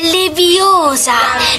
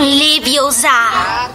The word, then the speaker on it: Leviosa: l'occhio qualcuno 20 più sbagli pronuncia e leviosa non li biosa fallo tu visto che